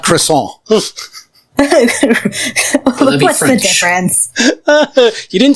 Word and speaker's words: croissant: It's not a crescent roll. It's a croissant.